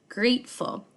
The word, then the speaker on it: grateful: to have for November grateful grateful is an a consonant letter t and a silent E graceful so this one